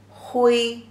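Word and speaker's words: 灰: The pronunciation as he, wei, hui, the first tone.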